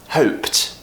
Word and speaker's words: hoped: video we're practicing pronunciation hope hoped once again P unvoiced so that means we have to create that T when it's an e d ending now finally we've done